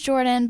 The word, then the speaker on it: Jourdyn: and everything yeah okay my name is jordan but my parents chose a very unique way to spell it it's j-o-u-r-d-y-n so twitter